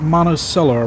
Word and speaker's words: Monticello: Monachello. Well, we pronounce it Monosellar around here.